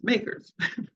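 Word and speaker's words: MACRS: accelerated cost recovery system it is Comm commonly referred to by its initials makers and pronounced makers the general rule of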